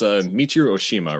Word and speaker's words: Michiru Oshima: Please correct me if I'm like totally botching her name, but it's Michiru Oshima, right? Yes. Like that's how you pronounce it.